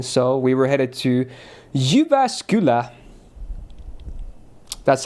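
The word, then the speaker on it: Jyväskylä: So, we were headed to Yubascula.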